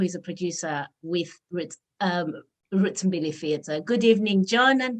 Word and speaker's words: Mbili: So the company is Roots Mbili Theatre.